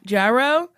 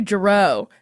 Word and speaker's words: Jarreau: I used to call you Jarreau, and then you said it, and I was like, ah, shit, I've been saying it wrong for so long.